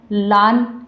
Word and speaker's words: lane: अब जैसे यहाँ ए है तो इसको हम लान या लाने इस तरीके से नहीं पढ़ते हैं,